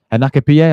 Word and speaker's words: Hincapié: Hincapié, I think. Yeah, that's how you pronounce the guy's name.